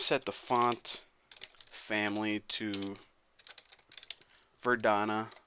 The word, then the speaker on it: Verdana: And I'm just going to set the font family to Verdana, not Vardana. Verdana. Maybe that's how you say it. I don't freaking know.